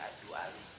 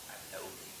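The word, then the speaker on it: الدؤلي: Jadi saya biasanya membacanya Ad-Du'ali bukan Ad-Dauli.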